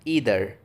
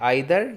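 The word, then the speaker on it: either: Guys अगला word है ईदर, या हम इसको प्रोनाउंस कर सकते हैं आइदर या ईदर, दोनों तरह से प्रोनाउंस कर सकते हैं, जिसका मतलब होता है भी।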